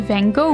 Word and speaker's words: Van Gogh: more museums so our first stop was the van go Museum or as is the correct Dutch pronunciation V what we were all surprised